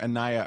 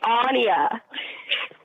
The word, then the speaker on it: Anya: She lives in Melbourne, Florida, and she and her daughter Anaya are huge fans of the ass. Huge fans. It's Anya. What? It is Anya.